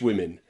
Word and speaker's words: women: Okay, women is also pronounced with that I again. 11 pretty English women.